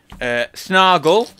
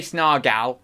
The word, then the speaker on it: Snargle: Snargle. So it rhymes with, well, anything that's gull. Snargal. Well, no, you could say snargal, pal. Snargle. No, it's not snargle. I always say snargle. It's not. It's snargal.